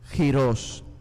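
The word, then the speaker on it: γῦρος: H lo traducen con una palabra griega que se pronuncia giros giros cuando en Isaías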